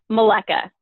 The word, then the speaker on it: Maleka: How do you say your last name? Maleka. Maleka. Yep. Cool. Yep. It's Czechoslovakian.